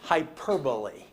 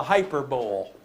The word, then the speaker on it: hyperbole: world no that's called hyperbole you you look at the way it's spelled and you're tempted to say it's the hyperbowl but uh it's not the hyperbowl hybo overstating your point